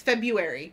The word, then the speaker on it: February: Take the extra R out. It's not needed. Oh, I do the same thing. It's February.